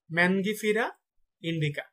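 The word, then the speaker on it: Mangifera indica: আমের বৈজ্ঞানিক নাম হচ্ছে ম্যানগিফেরা ইন্ডিকা।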